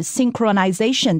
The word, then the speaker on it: synchronization: Also, one thing to point out is, don't forget the H in this word is silent.